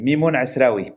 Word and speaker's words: Mimoun Assraoui: Am I pronouncing that correctly? My Arabic is a bit rusty. Exactly. Mimoun Assraoui.